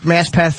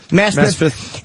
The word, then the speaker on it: Maspeth: It's in Queens, New York, Maspeth, or how you say it? Maspeth.